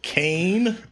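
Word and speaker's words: Kayn: This is Kane. Oh boy. It's spelled with a Y though.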